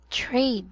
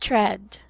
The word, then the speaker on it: trade: Lastly, this word is trade, not tread.